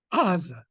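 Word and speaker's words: עזה: What's it in Hebrew? Aza. Aza. The because it's hard to say that become in English became a G sound. Aza becomes Gaza. But here Israelis will pronounce it as Aza.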